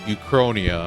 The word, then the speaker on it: Uchronia: Uchronia, that's how you pronounce it.